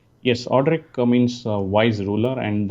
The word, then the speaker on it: Audric: back for those that are interested it's it's audrey is that how i pronounce it right yes audrey means a wise ruler and that's the name